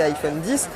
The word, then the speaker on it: iPhone X: Autre nouveauté de cet iPhone X, à prononcer iPhone 10, c'est ce double capteur photo.